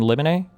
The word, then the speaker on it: limine: Is it motion in limine or limine? You were close on the first one. Is it motion in limine? Limine. Limine. Like limine cricket. Like chimney.